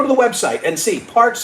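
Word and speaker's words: Parx: Parks is spelled P-A-R-X.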